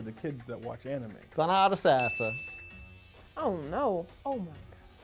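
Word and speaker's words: Thonotosassa: Thonotosasasa. It's not Tallahassee. Thonotosasa. Did they just like create this sound? Thonotosasa, not a knot in the center. Common misconception, don't read the word.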